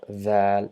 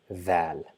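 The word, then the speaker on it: ذال: We just touch our tip of the tongue to our top incisor and try to pronounce z, but we will not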